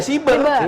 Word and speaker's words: siber: akan ada badan cber cyber nasional bacanya siber apa cyber sih tergantung tulisannya kalau Indonesia ya siber badan siber nasional itu